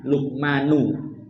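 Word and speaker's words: لُقْمَانُ: ketika berkata siapa Lukman lukmanu bacanya Nuh ya karena sebagai fa'il kepada anaknya wahuwa dan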